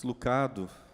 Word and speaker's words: Lucado: Max Lucado, na verdade a pronúncia não é essa, mas como foi tão aportuguesado o nome dele, vamos ficar com Max Lucado mesmo.